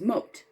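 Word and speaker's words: Mot: And then M, that character name is Moat. Moat, like a moat, but spelled M-O-T.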